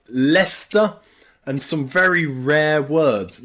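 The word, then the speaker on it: Leicester: pronounce this Leisure leisure but in England we pronounce this with an E Leisure Leisure also in some place names like leester and some very rare words like heer heer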